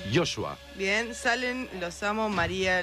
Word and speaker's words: Joshua: ¿Cómo se pronuncia? Joshua.